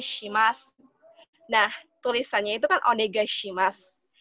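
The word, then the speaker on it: お願いします: Jadi, kalau orang Jepang itu, mereka memiliki pengucapan G itu seperti eng. Jadi agak sengau. Nah, supaya kalian lebih terdengar seperti lebih native ke bahasa Jepang, bisa kalian ucapkan dengan onegai shimasu. Onegai shimasu. Bukan onegai shimasu.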